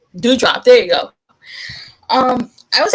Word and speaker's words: Doudrop: Dodra? Asuka? Her tag team partner. That's her name. Tag team Oh, partner. Doudrop. Doudrop.